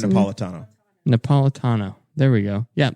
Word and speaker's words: Napolitano: Napatillo? Is that how you pronounce Andrew it? Napolitano.